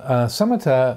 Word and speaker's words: samatha: in in Southeast Asia is the Pali spelling pronunciation so samita means calmness or settledness